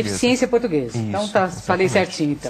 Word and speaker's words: Beneficência Portuguesa: O hospital é Beneficência, como se pronuncia? Beneficência Portuguesa. Beneficência Portuguesa.